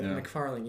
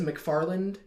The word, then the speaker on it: McFarling: Yeah, McFarling, yeah, perfect. Do you ever get anybody who says McFarland?